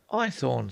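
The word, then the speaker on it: Haythorne: My name is Ethornne. What? I asked. Ithorn, sir. Ithornne. Spell it.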